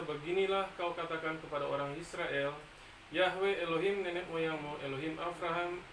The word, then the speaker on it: Yahweh: memang itu namanya memang tulisan Ibrani yhwh yahwe bacanya tapi sekarang namanya enggak